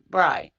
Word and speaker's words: Bray: Do you know, with respect to Chief Richard Bray, Brey, is it Bry? Am I saying it right? Is it Correct. Bry? Okay, Bry.